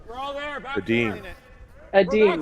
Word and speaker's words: Edin: McMillan, who has coached Eden. Nicholas from Edin. Sweden. Yeah. You're going to pronounce it Eden so you can get it to rhyme with Sweden, but I think it's actually We're all there.